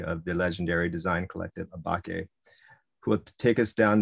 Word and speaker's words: Åbäke: Although before this lecture, he explained to us that the proper pronunciation is Åbäke.